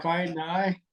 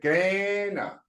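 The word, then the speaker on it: Kainai: Kai Nai, No, Apatu not kinda, I Picani. say kinda. You say Gaina.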